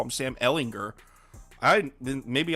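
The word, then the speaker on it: Ehlinger: Ellinger I then maybe I've been saying it wrong since his days I thought it was Jared too yeah I thought it was alinger but whatever I heard someone say Ellinger on this on like ESPN or something so it's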